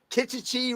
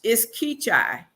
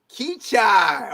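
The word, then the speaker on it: Keachi: So did I pronounce Kichichi right? Kichichi. No, How do you say it? no, it's Keachai. Keachai.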